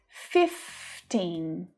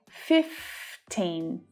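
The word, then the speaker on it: fifteen: 15, 15. 15. You know, with all of these teen numbers, it's so important that you pronounce the final consonant sound.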